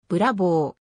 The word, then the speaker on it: Bravo: たランボルギーニ名義のコンセプトカーである発音はブラボーサイドビューイタリアでのブラボーラッコの